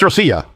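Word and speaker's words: Россия: Rusia en ruso no se pronuncia Rush o Ros. Es Rosia, lo cual no suena realmente como Ros.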